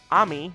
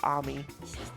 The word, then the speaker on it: Ami: White Fox, Ami, or Amy, it's pronounced Amy, but I think with an I, you have to pronounce it like Ami.